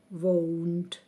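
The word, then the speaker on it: won't: форма і скорочена won зверніть увагу також на вимову won заперечення Will Not або won ми маємо поставити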